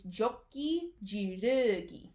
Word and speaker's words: Joki Ji Ru Gi: All right, so this one is a little bit different than you might have heard it pronounced in class. It's Jokey Ji Ru Gi. All right, so instead of being an oo sound, it's more like a right? It's a very neutral, not open sound.